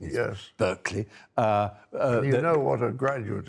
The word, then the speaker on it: Berkeley: You have to say that, obviously, the pronunciation is Berkeley.